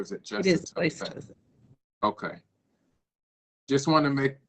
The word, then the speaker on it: Place-Jose: It is Place-Jose.